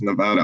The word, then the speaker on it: Nevada: Don't call it Nevada or you'll be in trouble. Apparently the only accepted pronunciation is Nevada.